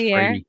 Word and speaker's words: Freire: That's actually pronounced Freire. Freire. He's Brazilian.